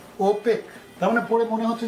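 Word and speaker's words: OPEC: একটা ওয়ার্ড বানিয়ে দিচ্ছ যেমন এটাকে কেউ ওপিসি বলে না আগে বলতো এখন কি বলে ওপেক তার মানে পড়ে মনে হচ্ছে যেন ওপেক মানে একটা ওয়ার্ড হয়ে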